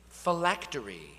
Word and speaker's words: phylactery: Miss Park, your word is phylactery. Phylactery. Am I pronouncing that correctly?